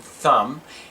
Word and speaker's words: thumb: let's practice MB sound when the letters m b are together in a word the B is silent as in thumb and bomb let's begin